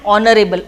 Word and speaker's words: honorable: An honorable, O means it is O. So O is what? O is a vowel. So that's why I have used an over here. H will be silent. If it is silent, if you see the next one, that is O, and O is a vowel. That's why I have used an honorable man, because it sounds a vowel.